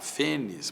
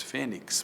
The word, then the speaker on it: fênix: tórax é uma palavra fenis muita gente diz Fênix mas a pronúncia erudita é fenis com x no final látex muita